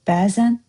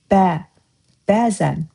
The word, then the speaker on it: bəzən: Do you pay attention how I say the word BÄZən? Usually in Azerbaijani, stress falls to the last syllable of the sentence, of the word, like görüşmək. See, you didn't hear stress in the beginning. But for BÄZən, it's different. It's on the first part.